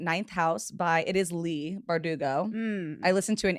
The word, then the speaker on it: Leigh: I was like, is it Lay or Lee? I always say it wrong because it's spelled like Ashley. Like, when someone's like, my name's Ashley. No, it's spelled like Lee.